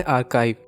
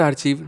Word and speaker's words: Archive: इसका नेम है आर्काइव, नॉट आर्चीव, नॉट आर्चाइव, इट्स आर्काइव।